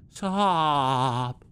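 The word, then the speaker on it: Saab: Because the sob, like, it sounds funny, like, sob. Like, that makes me uncomfortable, the way it's pronounced. Because it's S-A-A-B. So it's like, sob.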